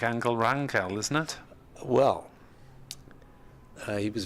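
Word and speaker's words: Ángel Rangel: So Roberto Martinez, the manager who brought him over, is Spanish, so therefore he says Angel Rangel. But in Catalan, apparently the G is a hard G.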